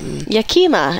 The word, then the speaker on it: Yakima: Yeah, the fruit comes from the Yakima Valley, from the Olson Vineyard. It's Yakima, as I like to call it.